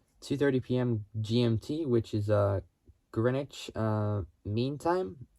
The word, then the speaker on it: Greenwich: GMT, which is Greenwich Mean Time. It's spelled GREENWICH, which, I mean, it looks like it's spelled Greenwich, but it's pronounced Greenwich.